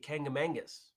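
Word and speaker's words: Kancamagus: about that stacey is that's how we all say it that's not how it's spelled there's no second n in it it's kangamaggus but we all say kangamangas because it's more fun tommy says i love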